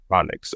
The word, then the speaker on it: Narodniks: Hopefully, I'm not pronouncing it. Narodniks. Narodniks.